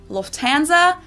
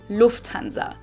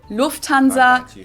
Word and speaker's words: Lufthansa: flown with them before in English people usually say Lufthansa but in German we say Lufthansa so the emphasis on the first syllable Lufthansa versus Lufthansa and that was